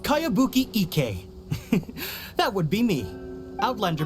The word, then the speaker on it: Kayabuki Ike: By Kawabunga Iki. Yoimiya, this is a really strange name. Who's this Kawabunga? It's pronounced Kayabuki Ike.